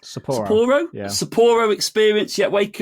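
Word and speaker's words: Sapporo: And Sapo what's it pronounced? Saporro.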